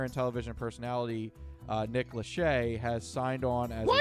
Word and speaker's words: Lachey: this year singer and television personality uh nick lachey has signed on as a spokesperson he's still apparently so it's spelled l-a-c-h-e-y nick lachey right has signed on